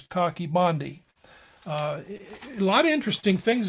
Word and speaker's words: Coch-y-Bondhu: A lot of people will call it Coch-y-Bondhu, but the Welsh pronunciation is Coch-y-Bondhu.